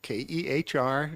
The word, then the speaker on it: Kerr: you is it Kerr okay I'll ask can you come up next thank you for having me today my name is K KR it's pronounced K but I go by